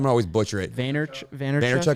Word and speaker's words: Vaynerchuk: Vaynerchuk. It's not Vayner Yucker or something like that.